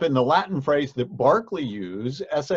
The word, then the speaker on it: Berkeley: yes it is pronounced Berkeley even though the town of Berkeley California is named after him we have two different pronunciations one for the person one for the town now the dates there